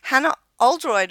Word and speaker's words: Hannah Oldroyd: UK yet she's living currently in New Zealand Hana Oldroyd and welcome to the park runn adventurers thank